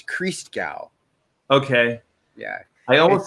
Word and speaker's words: Christgau: he's gonna show up hooked it is pronounced Christgau to Gao naturist Christmas creased Kris Kris Kris Kris cow yeah yeah but don't it's